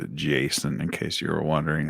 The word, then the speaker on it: Jason: It's pronounced Jason, in case you were wondering.